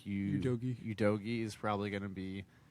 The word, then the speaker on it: Udogie: Udogie is probably going to be number one.